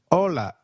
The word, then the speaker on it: hola: Hi is called hola in Spanish. Can you try that, please? Hola. Did you get that right? hola. Remember, H is always silent in Spanish.